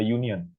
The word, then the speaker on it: union: Kayak contohnya a union, di sini pakai y, pakai y ya, bacanya a union, a woman, a pen.